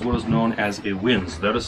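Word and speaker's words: winze: have here is what is known as a winds that is spelled w-i-n-z-e lenses are shafts that are dug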